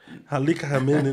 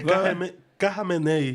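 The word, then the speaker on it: Khamenei: E ele é é o Al, eu não vou saber pronunciar não. Alamene Alamene não é isso. É Carmené.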